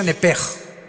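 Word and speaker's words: נֶפֶשׁ: Digo, por favor, esta palabra alma en el original hebreo es la palabra nepes. Apúntala como suena nepesh con sh se pronuncia nepej.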